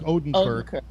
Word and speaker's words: Odenkirk: be a combination of Bob, how do you pronounce it? Oberlink or Odenkirk. Odenkirk, right.